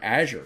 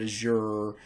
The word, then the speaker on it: Azure: learned is that um the Microsoft developers don't agree on how to say it either uh some of them say Azure some of them call it Azure uh some of them call it Azure so anyway tomato tomato pronounce it however you want to pronounce it okay but Azure